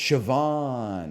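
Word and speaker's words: Siobhan: second nature to me it's shoban shoban okay shoban he's sort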